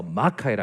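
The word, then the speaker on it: μάχαιρα: 그죠 블루베리 스무디 그렇습니다 그런데 제가 원어를 찾아보니까 마카에라의 제일 먼저 강세가 지킵니다 그래서 마카이라 합니다 마카에랑 사진 하나 띄워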